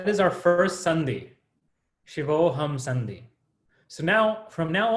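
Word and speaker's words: Shivo'ham: like shivoham right no it's not any longer so you just pronounce it short so shivoham but i think because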